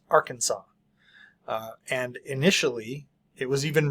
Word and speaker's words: Arkansas: Arkansas is spelled Arkansas, but pronounced Arkansas.